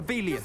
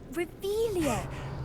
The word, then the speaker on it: Revelio: You're Rebellious. saying it wrong. Ugh, Revelia. Much better.